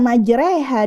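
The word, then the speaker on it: مَجْرٰىهَا: majreha wa mursaha nah kata majreha di sini diimalahkan dimiringkan fathahnya ke kasrah merupakan suatu tanda tanda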